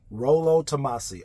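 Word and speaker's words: Rollo Tomassi: stuff but Rolo tamasi Rolo tamasi r o l l o and then tamasi exactly how it sounds is is how it's spelled this guy has books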